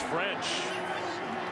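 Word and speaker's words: Ffrench: He's got an extra F in his last name. It's French with 2 Fs. Maybe fortitude. Does that still sound the same? It does. You still pronounce it French.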